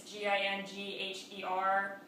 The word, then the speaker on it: Gingher: They're called Ginger, and I never know how to pronounce it. It's Gingher, and they're knife-edge dressmaker shears.